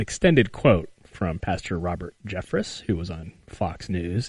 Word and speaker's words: Jeffress: seems like it's red is it Jeffress is that how you say his name because I've been calling Jeffrey's no it's Jeffress je FF are ESS so that's a hard